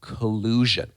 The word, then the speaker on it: collusion: This is pronounced collusion. And the verb is collude. So you could say that they are colluding, colluding. Pay attention to the pronunciation of the noun, collusion. So there's a zh sound there.